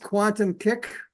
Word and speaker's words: QuantumQik: also have a website for our company called Quantum kick Quantum quu n tuu m kick Qi I